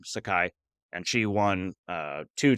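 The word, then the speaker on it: Saiki: Patricia Sakai I think I think that's how you say her name Sakai and she won uh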